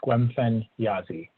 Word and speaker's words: Squemfen-Yazi: we do have Squemfen-Yazi. And, please tell me if I pronounced that right. It's Squemfen-Yazi. Yes, that's correct.